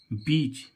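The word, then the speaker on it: beach: में ई आए तो इस ई का उच्चारण बड़ी ई से कर है जैसे हम देखें बीई ए सी एच बीच बीच means क्या होता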